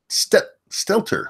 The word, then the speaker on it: Stelter: But before we get there, I want to talk about Brian Stelter.